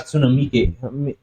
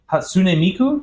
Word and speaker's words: Hatsune Miku: The Hatsune Miike.